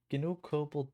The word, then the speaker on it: COBOL: We're going to use this one to get cobalt there.